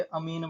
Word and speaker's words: amine: है ईन, तो ये अमीन बन जाएगा। समझ रहे हो, अमीन। इसको याद करने का तरीका अमीन, AMINE, अमीन।